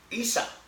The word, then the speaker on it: Isa: A Jesús le dicen, como le digo yo a usted, Isa, en árabe. Así se pronuncia Jesús en árabe, así se traduce.